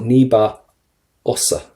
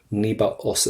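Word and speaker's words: níos fusa: Now, first things first, níba, and do not pronounce your FH. They're always silent for you in your language. We never pronounce FHs in Irish. So níba osa. Níba osa.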